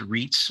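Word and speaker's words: retes: this these involutions that i believe they're pronounced reits or r-e-t-e-s so um young skin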